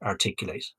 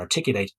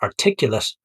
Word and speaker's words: articulate: is the verb and articulate is the adjective i'm sorry that's i pronounce that incorrectly it's you can be articulate articulate so remember the verb is to articulate the adjective is to be articulate so example one i've